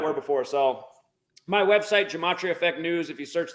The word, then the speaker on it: Gematria: Yeah, you got to know how to spell that word Gematria. Gem, like Gem, at AT, and then RIA, kind of like the sporting goods store. Gematria.